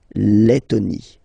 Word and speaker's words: Lettonie: So remember when you've got this E and then a double letter like that, T, okay, then you will have to open your E and it will become E, le, Lettonie.